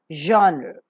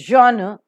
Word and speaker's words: genre: As you could observe, G-E-N-R-E, genre, genre. It is genre. Maybe in the American pronunciation, there are also genre is pronounced.